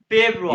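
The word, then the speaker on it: Februar: फेब्रुआ, जानवा फेब्रुआ।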